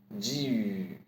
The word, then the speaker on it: 句: Say the G sound of Jeep first, and again E with U shape. Ju, ju. That's it.